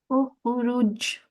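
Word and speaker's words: اخرج: So we will make this the Qalqalah sound at the end of this word, okay? Ukhruj.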